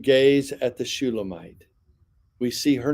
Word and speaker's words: Shulamite: notes from before know shulamite shalum Mite is actually how they would pronounce it shalum Mite you have